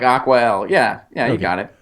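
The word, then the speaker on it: Acqua: ballots spell it Jeff I can help you AC qu a al yeah like aqua yeah yeah you got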